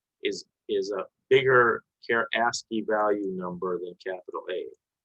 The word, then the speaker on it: ASCII: yes um is i don't know how to pronounce it asc i i value is that a universal code yes yes